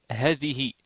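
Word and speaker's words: هذه: si je l'écris comme ça je dois dire Hadi parce qu'il n'y a pas de Alif le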